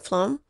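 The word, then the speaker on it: phloem: whereas Flo uh Flo the pH is pronounced like an F Flo carries nutrients down the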